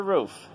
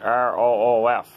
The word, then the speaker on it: Ruth: um it's called pastor roof that's r u t h i pronounce it r o o f i don't pronounce the t h sometimes in some words so i say doctor